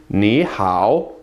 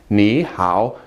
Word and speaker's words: 你好: 你好. Again, two third tones in a row. If you pronounce them quickly, 你好, no one's going to know the difference and everybody's going to understand you, I promise.